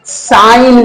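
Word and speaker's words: sign: तो आइए देखते हैं जब किसी शब्द में एन से पहले जी हो तो जी लेटर हमारा साइलेंट होता है फॉर एग्जांपल आप देख सकते हैं साइन में जी हमारा इन से पहले आया है तो जी साइलेंट हो जाएगा ऐसे ही देखते हैं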